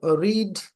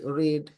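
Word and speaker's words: read: সো রিড দেখতে তিনটা একই রকম, but pronunciation is রিড, রেড, রেড।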